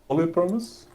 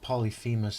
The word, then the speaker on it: Polyphemus: How do you pronounce this guy's name again? Come again? Come again? Polyphemus?